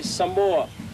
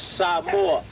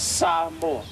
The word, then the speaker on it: Samoa: Most people will say Samoa. The right pronunciation of the word is Samoa. Okay? So it's not Samoa, it's Samoa.